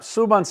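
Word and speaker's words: súbanse: suban climb on up suban Accent on the you you want to tell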